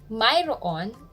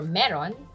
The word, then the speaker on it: mayroon: We use the word Mayroon. Sometimes it's spelled and pronounced as Mayroon or Meron, which means you have, he has, or something exists.